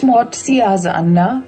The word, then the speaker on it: Matsyasana: Matsyasana, pronounced Matsyasana, Matsya equals fish.